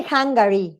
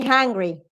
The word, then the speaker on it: hungry: here is different why because you don't say hungary you say hungry that's the idea they